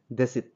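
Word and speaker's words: десять: কে বলা হয় দেত দেত মানে 10 টানে উচ্চারণ যখন হবে দেশিত তোমাদেরকে একবার টেনে টেনে বলি যেমন রাশিয়ানডা বলে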